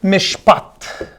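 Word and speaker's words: מִשְׁפָּט: of the sentence bloodshed so look how it's pronounced in hebrew behold hebrew mishpat behold mishpat hebrew for bloodshed mish p-a-t-h-c-h instead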